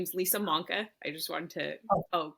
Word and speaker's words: Manca: So, just my last name is. I just wanted to Oh, clarify that. Did I say it wrong? We're good. Yeah, I think you said.